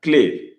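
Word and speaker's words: clef: You have EF, but the F is not pronounced, give it as sound, clave. You have ED as in pied.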